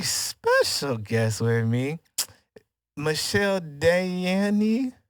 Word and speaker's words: Dayanne: And I got a very special guest with me, Michelle Dayanne. Dayanne? Oh, it's regular. Yeah. But it's just spelled differently.